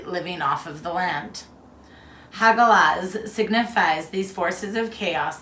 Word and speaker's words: Hagalaz: Also known as Hagal, Hagael, pronunciation Hagalaz.